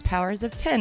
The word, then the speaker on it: Powers of X: If you think we're lying, Jonathan Hickman said that officially it's Powers of 10. Yeah. So we should all be saying it correctly, I think, now.